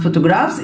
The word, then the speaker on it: photographs: طبعا photographs ال B وال H هنا دايما بتتنطق A، بتدينا الصوت الفا ساوند صوت حرف ال F بالاتنين، okay photographs.